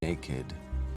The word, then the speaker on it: naked: Naked.